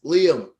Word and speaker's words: Lyam: It's the bassist Lyam.